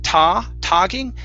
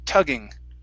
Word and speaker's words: tugging: Okay, here instead of togging, it's tugging. Tugging.